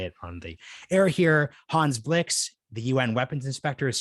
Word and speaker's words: Hans Blix: a nuclear program and actually the weapons inspectors hans flicks oops i almost used the team america world police pronunciation most people in my age court will